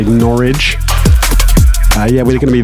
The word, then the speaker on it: Norwich: playing at overview nor we are in Norwich whereas the locals say norch yeah we're going to